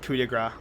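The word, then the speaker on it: Coup de Grâce: French it's spelled c De Grace but it's pronounced cigra um prove thyself as much as I hate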